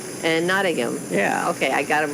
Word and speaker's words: Nottingham: poshka say in England we have Birmingham and Nottingham but they have a Silent Age so it should sound like Birmingham and Nottingham yeah okay I got